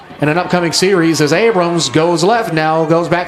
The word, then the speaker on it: Abram: in that camp that when you drive by you see that there is no s it is Abram Street and people just kind of blend the s's together and it becomes Abrams well maybe cille might